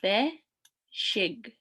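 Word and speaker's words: bezhig: So be, shig. Be, shig. Be, shig.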